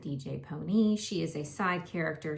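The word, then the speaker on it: DJ Pon-3: I know it says DJ Pawn 3, but they pronounce it DJ Pony.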